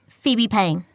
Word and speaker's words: Phoebe Payne: first year economics i'll just have to fill out this form for our records what's your name phoebe payne can you spell that for me sure p h o e